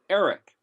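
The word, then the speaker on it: ערך: But if you look at, and I know we haven't gone through the letters yet, but if you look at Ayin Resh Kaf, it's basically pronounced Eric, and it means to assess, to evaluate, to determine something's worth that you otherwise had no regard of.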